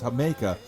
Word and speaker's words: jamaica: Jamaica, a flavor that's spelled Jamaica, if you pronounce it in English, like the island, but it's Jamaica, which is a hibiscus drink that's fruit punchy.